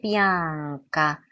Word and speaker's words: bianca: 보일라, 나베 비앙카, 비앙카, 비앙카. 그래서 까 발음하기 바로 전에 N 발음한다는 거. 비앙카 아니에요. 나베 비앙카 아니고 비앙카.